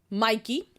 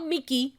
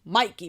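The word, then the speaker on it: Mickey: what's his name um Mikey not McKey Mikey because they love doing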